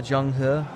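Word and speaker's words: Zheng He: That's how you pronounce it in Putonghua, Zhenghe. Zhenghe. Not, I would always say Zhenghe, but it's Zhenghe. He. Like he. E is always It's almost like French. You know, sometimes I hear people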